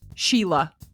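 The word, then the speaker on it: Síle: s i l e we'd say Sy it's pronounced Sheila oh I've heard that name before yeah but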